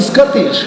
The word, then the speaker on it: Scottish: Scotland, Scottish, right? Ano? Scottish. Scottish? Scottish? Yung mukha mo, puro anan, kaya Scottish. Scottish. Scottish. Scottish. The accent falls on the second syllable.